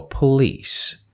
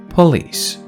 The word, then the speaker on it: police: When you see E after C, this E turns C into soft C sound, like S. So police.